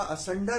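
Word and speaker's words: asunder: ये लगा दीजिए असुंदर, तो उच्चारण इसका असंडर है लेकिन आप इसे असुंदर भी पढ़ सकते हैं।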